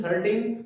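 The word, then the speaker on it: thirteen: When as examiner speaks 30, the stress is in the beginning of the word 30. And when examiner speaks about teen means 13, so the stress is on the end of the word, means 13.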